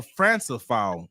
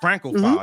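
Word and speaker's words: Francophile: in New York City how you say it Franco Franco File I was way off Franco File there you go all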